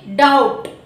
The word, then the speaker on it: doubt: అలాగే before tea చూడండి, డౌట్, DOUBT, డౌట్. అది డౌట్ కాదండి, బిని మనం పలకూడదు, ఇట్స్ డౌట్, అంటే టీకి ముందు వచ్చింది.